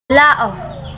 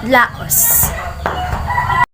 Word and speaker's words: Lao: Lao. It pronounced La, not Laos.